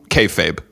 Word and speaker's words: kayfabe: Is it kayfabe? Yeah.